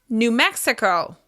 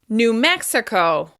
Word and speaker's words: New Mexico: Moving on, New Mexico. New Mexico. Once again, we're stressing the first syllable of the second word. New Mexico.